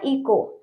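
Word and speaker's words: echo: Okay, इसमें हमारा इको। इको, ओ से पहले एच है तो ये एच भी साइलेंट रहेगा।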